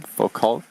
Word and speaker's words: Foucault: Foucault, am I pronouncing it correctly?